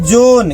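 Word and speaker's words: John: अंग्रेजों का हां तो इसके नाम में एच साइलेंट रहता है देखो जो का इंग्लिश क्या होता है जी ओ एच एन ये हो गया जोन क्या हो गया? जोहन। एच को नहीं पढ़ेंगे नहीं तो जोहन हो जाएगा। एच साइलेंट है।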